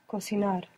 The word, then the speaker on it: cocinar: And to make the verb, you can just stick an R on cocina and you get cocinar. Cocinar, with the accent on the end.